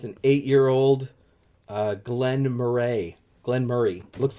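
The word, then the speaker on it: Glen Moray: were here with me it's an eight-year-old uh glenn murray glenn murray looks like glenn moray but it's pronounced glenn murray anyways drinking near the winter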